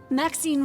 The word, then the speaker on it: Maxine: and Raised on dominis Maxine rhymes with Queen after all and dearest